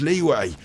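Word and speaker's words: Liyue: Oh, it's pronounced Leeway.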